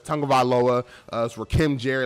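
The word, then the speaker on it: Tagovailoa: how he said his last name but it's tongavaloa uh for kim jerry like i messed up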